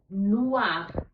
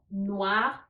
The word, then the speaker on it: noir: Translate to noir in French, masculine, and noir, feminine. So spelled noir, N-O-I-R.